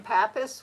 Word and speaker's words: Pappas: Oh, I didn't know about Pappas being, but Well, he's saying Pappas. We're saying Papa. I don't know. well, it's spelled the same.